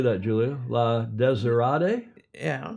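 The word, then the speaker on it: La Désirade: La Desirade? Yeah. The accent's on the first syllable. The desert. Desirade.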